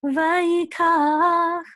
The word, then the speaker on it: vayikach: The accent is going to be on the last syllable, kach. Vayikach. Okay, so it's not vayikach or vayikach, it's vayikach.